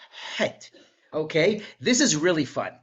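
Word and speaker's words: ח: The chet sound is actually closer to an H. It's not hey, it's het. I'm sure you've heard a Sephardic pronunciation, het.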